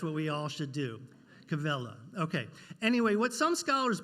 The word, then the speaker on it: Quelle: I did not pronounce that correctly. What is it? Quelle? Quelle. Ask the expert. That's what we all should do. Quelle.